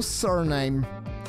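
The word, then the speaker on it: Suriname: And I'm gonna go surname. We figured out that that's how you're supposed to pronounce it.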